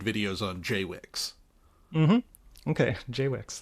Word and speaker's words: JWICS: Jay Wix, that's how they pronounce it.